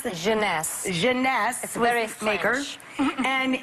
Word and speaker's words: Jeunesse: called instantly 8 ageless what's the company honey pronounce the Jeunesse Jeunesse sweareth maker and it's less than $75